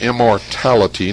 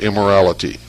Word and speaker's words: immortality: Now I mispronounce the name of the child. It's immortality, not immorality. Immortality.